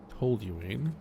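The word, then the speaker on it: toluene: Okay, so the tuline to towine tooline is probably the way that's supposed to be pronounced.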